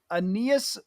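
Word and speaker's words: Ainias: Aeneas Smith from Texas A&M. Is that how you pronounce his name?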